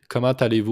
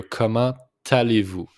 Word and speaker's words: comment allez-vous: Comment allez-vous aujourd'hui? Just make the liaison here, comment allez-vous? It's the T with the A, so it's pronounced comment allez-vous aujourd'hui?